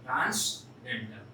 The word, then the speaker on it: transcendental: हम फिर से रिपीट कर रहे हैं, Leonard, not Leonhard, Leonard Euler, and this is transcendental, n is silent, transcendental।